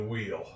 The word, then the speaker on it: wheel: In this case, the H is silent.